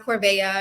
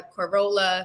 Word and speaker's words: Corvaya: Yes, I'm Corvaya, pronounced Corvaya, exactly how it's spelled. I've been seeing people on Twitter butcher my Corolla, Carana, Carvana, Oh, coronavirus. I've heard it all.